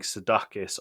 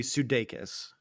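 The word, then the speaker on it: Sudeikis: pronounce his surname because I've been saying sakis or sis uh from what I understand it's supposed to be sudes so I've been wrong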